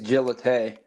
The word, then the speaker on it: Gillette: butcher it but Ashton is it Ashton Gillette or gillet I think it's Gillete Gillete yeah I I think you're right okay if you haven't